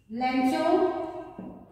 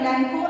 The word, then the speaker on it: Lencho: Lencho. Some people they call it Lenko also. So names they have various pronunciations depending upon the areas where names are pronounced. Right? So Lenko and Lencho both are correct.